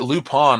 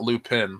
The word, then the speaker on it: Lupin: comes out from Amazon they pronounce it loop on on the show not loop in so I left loop